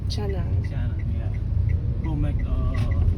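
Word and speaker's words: canang: how do you say that in we say Chang Chang Chang yeah go make a protection offering to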